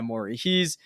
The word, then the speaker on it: Morey: Yeah, Morey.